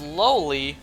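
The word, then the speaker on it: Loli: the cat's name was lowly but it was spelled l-o-l-i pronounced lowly but spelled a whole different way how do you lose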